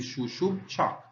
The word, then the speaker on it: Xub Chaak: dots that are here these two little dots actually uh tells us that you should pronounce that syllable twice so you should say Sho Sho and here you have shoo Bo cha so here phonetically and here would be shush chak then we would have